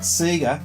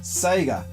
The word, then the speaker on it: Sega: was a bit weird not sigue Sega that was the first time I realized we've been saying it wrong all this time you